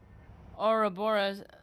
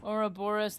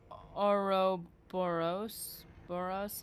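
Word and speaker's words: Ouroboros: Minor detail, but a snake devouring its own tail is oraoris. Ourorus. Not oros. Boros.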